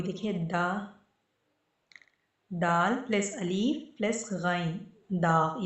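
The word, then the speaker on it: دال: ठीक है, दाल का साउंड आता है दाल, जो हम दाल कहते हैं ना, जो दाल बनाते हैं उस तरह से।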